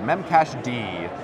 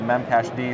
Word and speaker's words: memcached: to an application called memcache D sometimes mispronounces memcached which is correct and that was kind